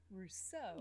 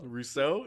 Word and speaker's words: Rousseau: name it is yeah that's the italian is r-u-s-s-o one syllable the french is rousseau rousseau nice that's super super